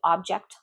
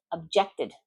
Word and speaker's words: object: None of the board members objected to the proposal. None of the board members objected to the proposal. Object, noun. Object, verb.